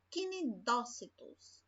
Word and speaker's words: cnidócito: que negócio bom ó cuidado quando tiver essas palavrinhas onde está a sílaba tônica sílaba forte cnidócito tá bom e estão